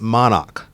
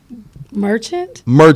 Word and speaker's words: Merchant: But it's Miss Monarch. Am I pronouncing that right? Yes. Say it. Miss Merchant?